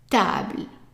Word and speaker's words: table: And again, we have an E at the end that is silent. And we have an A, and remember A is pronounced as an A. A. So how do you pronounce this?